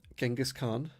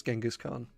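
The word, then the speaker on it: Genghis Khan: but um thanks for dropping by anyway um genas Khan I'm not too sure what you mean by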